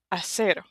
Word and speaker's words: hacer: Hacer. Hacer. The H is silent. Hacer.